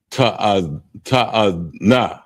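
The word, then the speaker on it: תאנה: It's pronounced ta'ana, and it's figs, and it's spelled THAAHNAH.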